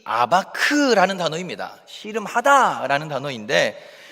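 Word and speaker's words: אבק: 근데 이것을 이제 히브리어 발음으로 하면 야곱은 야콥이라는 이렇게 발음이 되고 야복은 야복라는 이제 이런 발음이 되고 씨름하다는 아바크라는 단어입니다. 그러니까 야코브가 야포크에서 아바크했다 하면은 뭔가 이제 언어의 유희를 사용해서 이 본문이 시작되고 있다는 것을 알 수 있습니다.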